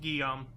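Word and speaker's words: Guillaume: bar like gu guame G gilam it's it's pronounced gam is it pronounced gam gam we're pretty close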